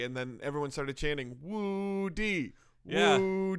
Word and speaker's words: Wu Di: It's actually pronounced Woo D.